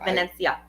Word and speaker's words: Venezia: Hill's post earlier today he actually said pronounced Venezia the way Venice is pronounced in Italian so yes pork roll